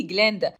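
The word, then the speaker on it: Glinda: اسم جليندا غلط فبتعطي وبتقول له لا مش عشان انت معزه يعني تنطق اسمي غلط انا اسمي جليندا وهنا ديلمون بيقول للطلاب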